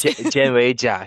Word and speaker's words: Jianwei Jia: Jen Jia here from Local Development Group out of Moncton.